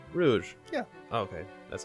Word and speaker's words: Rouge: doing it no Rogue why is her name Rogue I thought it was uh Rouge yeah okay that's how